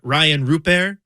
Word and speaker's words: Rayan Rupert: And then he's like, you can just say Rayan Rupert or Rupert.